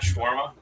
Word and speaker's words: shawarma: Did I say it wrong? Is it not shawarma? No, you said it right.